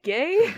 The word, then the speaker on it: G: But they pronounce the letter G as gay, Yeah.